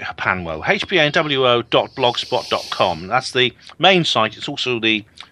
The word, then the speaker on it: HPANWO: I pronounce it Hapanwo.